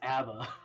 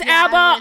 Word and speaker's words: ABBA: how you pronounce it I thought it was Abba it's ABA ABA it kind of varies cuz like the Swedish pronounce it a little differently but still like I